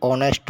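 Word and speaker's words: honest: जहाँ H silent mode में है वहाँ पर एन का प्रयोग होगा। जैसे ऑनेस्ट मैन बोल दिया मैंने, ऑनेस्ट मैन, ऑनेस्ट एच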